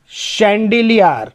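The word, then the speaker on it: chandelier: शैंडिलियर, शैंडिलियर मतलब झूमर।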